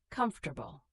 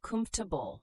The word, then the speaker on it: comfortable: Comfortable, we say cumf-table, not com-for-table.